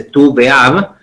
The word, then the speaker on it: Tu B'Av: día 15 de Leo, la razón por la cual se dice Tu B'Av, es porque las letras que forman el día 15 son la letra Tet y la letra Vav, que se pronuncia tú.